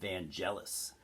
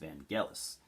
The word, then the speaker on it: Vangelis: that i called him van jealous i called him vangelis for probably the last 15 years because i didn't know it was actually pronounced vangelis so i will be